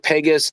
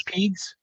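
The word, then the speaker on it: Pegues: JJ Pegas, defensive tackle, Ole Miss. Pegs? So not Pegs, I think it's Pegs. Is it Pegas? Pegs. P-E-G-U-E-S. JJ Pegs. Sorry, Pig. However you pronounce the name.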